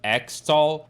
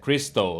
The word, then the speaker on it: Xtal: of people say it extol and some other people argued that the x is actually an abbreviation that is actually pronounced crystal like the abbreviation to christmas but nevertheless this song